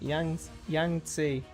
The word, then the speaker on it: Yangtze: Yangtze.